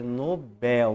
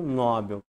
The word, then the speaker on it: Nobel: né o jeito certo a maneira correta de pronunciar essa palavra é Nobel não Nobel e por fim a